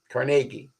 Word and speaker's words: Carnegie: the Philadelphia people sponsored their Protege Andrew Carnegie Carnegie you pronounce it to build a new a whole